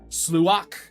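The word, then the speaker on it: sluagh: They're not pronounced normal. Sluach.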